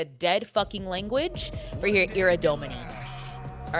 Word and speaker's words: Ira Domini: I need you with so much love and respect pronounce it Ira Domini, not Ira Dominy.